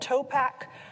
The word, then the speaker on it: Topac: a company against it called Topac, which stood for Tiffany, Oliver, Phil, Anthony, and Q for quality. But really, we just wanted it to rhyme with backpack.